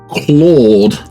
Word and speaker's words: Claude: phonetically and it said well my name is Claude pronounced Claude and I said yes I like car like